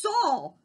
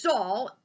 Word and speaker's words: Saul: It was Saul. Saul rhymes with Paul.